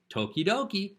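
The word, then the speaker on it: 時々: can also be pronounced Toki as in time now if you say time twice Toki add coach the second one Doki Doki Doki means from time to time tokidoki sounds like okey-dokey sometimes or from time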